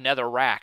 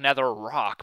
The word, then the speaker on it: Netherrack: get it it's called Netherrack I thought it was going to be called nether rock but nope it's Netherrack or at least that's what it's spelled like so um remember how